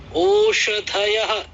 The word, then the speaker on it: ओषधयः: वेदों में इस वाले श को ख भी पढ़ा जाता है, अर्थ श ही रहे, उच्चारण की सौकर्य की दृष्टि से इस श को ख भी पढ़ देते हैं, खासकर यजुर्वेद में।